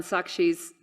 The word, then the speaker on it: Sakshi: me just announce, you guys, this is on Sakshi's site, and her last name, I'm going to spell it.